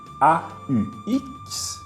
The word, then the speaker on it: aux: On écrit A-U-X, mais tu prononces O. Exemple, je vais aux États-Unis.